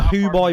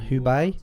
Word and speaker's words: Hubei: you going to Wuhan to the hoo-boy province did I pronounce that right try me Wuhan and Hubei yeah but I'm going